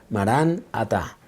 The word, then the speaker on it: Maranatá: Y la frase o la expresión en griego es Maranatá. Ven, Señor Jesús. Ven, Señor Jesús. Y también se puede pronunciar de otra forma, Maranatá, que significa el Señor está viniendo.